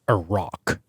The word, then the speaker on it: Iraq: This little Indiana Jones movie up front, which was Merrin doing some sort of archaeological work in Iraq, or Iraq, as it should be pronounced. Iraq, yeah.